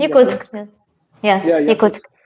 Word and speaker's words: Yakutsk: There's a place in Siberia called Yakutsk. You'll correct me on my pronunciation. Yakutsk.